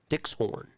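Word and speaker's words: Dykxhoorn: Dickshorn. That's how you say it.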